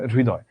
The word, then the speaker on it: হৃদয়: অর্থাৎ আমরা যখন উচ্চারণ করি, উচ্চারণ করার সময় আমরা দেখতে পাবো এই র এর সঙ্গে অটো একটা হ চলে এসেছে, র এর সঙ্গে অটো একটা হ চলে এসেছে।